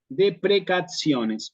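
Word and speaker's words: deprecationes: este de precaciones Sí esta te suena como una ts de precacciones o cuando yo digo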